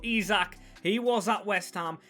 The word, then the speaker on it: Isak: be a Swede Striker not kyoceras or yokres I'm told it's pronounced but izac he was at West